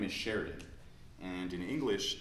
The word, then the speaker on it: Sheridan: We don't really pronounce this I.